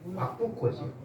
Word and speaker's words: 왁구코: 예, 일본어인데 왁구코죠. 왁구코. 왁고가 아니고 왁구코.